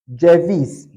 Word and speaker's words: ceviz: This letter is called J. J in Turkish language. It is called J. For instance, we have Ceviz. Ceviz. Ceviz. We have Ceylan. Ceylan. That is how you are going to pronounce this letter. Anywhere you see it. J. Ceviz. Ceylan. Alright?